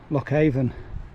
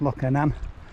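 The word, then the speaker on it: Loch Avon: waterfall over there wow lockhaven oh i think it's pronounced locker name fantastic now there's supposed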